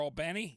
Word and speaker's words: Albany: sister was born at Albany Georgia or Albany depending on how you like to pronounce it you know so